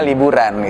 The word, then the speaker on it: Liburun: Ya, liburun. Liburun, Nah, liburun ya. Jadi berasal dari lari di waktu libur gitu kan. Nah, jadi diplesetkan lah liburun gitu, bacanya liburan gitu.